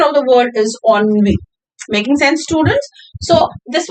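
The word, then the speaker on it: ennui: The pronunciation of the word is onv.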